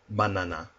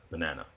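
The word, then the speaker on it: バナナ: For example, banana. Or as it would be pronounced, banana. The first character you see here is pronounced ba. The next two characters are pronounced na and na, respectively.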